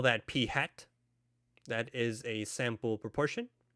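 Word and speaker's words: p̂: party hat on its head we call that p hat that is a sample proportion and last but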